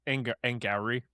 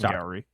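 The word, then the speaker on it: Angarano: It's Angari, by the way, just so that we don't mispronounce the rest of the pod. Yeah. It is Sorry. Angari.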